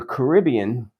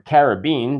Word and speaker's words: Caribbean: I think that I'm somewhere in the Caribbean or Caribbean, depending on where you live, how you say it, or at least it certainly looks this way from where I stand in this vision.